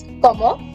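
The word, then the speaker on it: comment: Como. Last letter silent. Va. Tu. So there are two rules. Last letter silent and the U sounds like ew.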